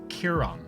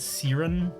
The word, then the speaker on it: Kiron: It is Kiron. Just Kiron. That's the phonetic correct pronunciation. I get Siren or Siaran a lot, but Kiron. That's it.